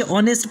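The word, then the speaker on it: honest: पहला है आवर्स मतलब घंटा, उसके बाद में ऑनर, उसके बाद में ऑनेस्ट, यानी हॉनेस्ट नहीं पढ़ना है बल्कि ऑनेस्ट पढ़ना है, ऑनर पढ़ना है, आवर्स पढ़ना है और उसके बाद में एयर पढ़ना है।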